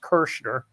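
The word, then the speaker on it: Kerchner: He said, no, it's pronounced Kersner.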